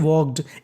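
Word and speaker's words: walked: ही का मतलब वह वॉक्ड डब्ल्यू एल के ई डी इसे पढ़ते हैं वॉक्ड इसमें हमारा एल साइलेंट रहता है वॉक का मतलब होता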